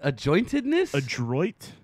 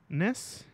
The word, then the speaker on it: adroitness: Adjointedness? Adroitness? Dude, I just want to let you guys know we never claim to be like good readers. No, this is how you say it. It's adroitness.